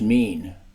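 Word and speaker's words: מִין: Hebrew word for kind is o i n pronounced mean the Bible does not mention species it only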